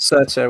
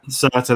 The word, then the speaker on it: Surtur: even a reference to, is it Surfer or Circa? I can never pronounce it. Surtur, wasn't it? Yeah. Surtur, that's it.